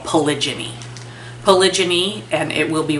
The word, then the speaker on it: polygyny: All right, so many animals that you see in the world follow a mating system that we call polygyny.